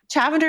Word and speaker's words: Chavender: Chavender is spelled lavender but with a ch at the beginning.